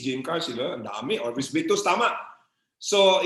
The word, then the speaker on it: Orbis Victus: Yung X po is pronounced as letter S. S po. Kaya Orbis. Orbis.